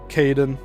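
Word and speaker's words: Caidin: One of the passengers, author Martin Kaden, that's spelled C A I D I N, an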